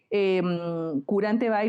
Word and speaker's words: Quranteby: pero Entonces, Curante Bay lo pronunciaste muy bien porque todavía hay muchas personas que lo pronuncian de diferente manera.